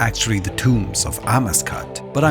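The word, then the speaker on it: Amascut: Amascat, goddess of rebirth, which I've been mispronouncing a mascot my whole life, but apparently it's Amascat.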